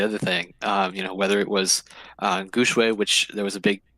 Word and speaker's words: Gu Shui: as a Chinese minor, I can tell you it should be Gu Shui. Huh. Shui, Well, yeah, there you go. Shui is a Gu Shui is Chinese for sure, so that's how you should pronounce it.